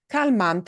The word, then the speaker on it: calmante: Let's look at calmante. Calmante ends in a vowel. And we punch this sound a little bit harder. That's where the natural stress should follow. The way we pronounce that word follows that rule. So I don't need an accent mark. Calmante, right? It's not calmante, calmante. No. It's calmante. Yeah. Calmante, calmante. Okay. The way we pronounce that word obeys that stress pattern.